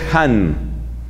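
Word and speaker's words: Hahn: su análisis bíblico él se llama scott skott ahn scott and ls hands se escribe h n scott and youtube la alegría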